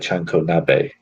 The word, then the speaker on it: chanko nabe: So it sounds like Chanko nabe. Again, probably butchered the name, but yeah, that's a dish I'd like to try next time I go to Japan.